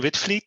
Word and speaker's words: Witvliet: friend my name is whitfleet so you pronounce that with fleet and of course you write it in a strange way but that's because we're dutch right i'm a radio amateur since 1974.